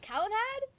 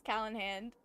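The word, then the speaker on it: Calenhad: Cal Kalanad. I think I've been reading his name wrong this whole time. I really thought his name was Kalen Hand like H A N D.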